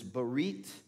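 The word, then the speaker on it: ברית: new covenant and the hebrew word covenant is barret and it's made up of three syllables if you will bar e and tav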